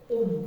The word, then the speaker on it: 옴: 오메가 3에서 뭐라고 읽어? 옴 이렇게 읽으면 이해됐어?